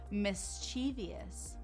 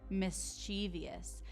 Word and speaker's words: mischievous: This is pronounced mischievous.